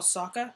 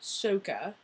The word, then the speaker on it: Sokka: But in this, they decide to call Sokka, Soka.